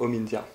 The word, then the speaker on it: Omindia: à son origine bon Hind ne rendait pas très bien donc j'ai gardé la prononciation anglophone donc Omindia la cosmétique ayurvédique déjà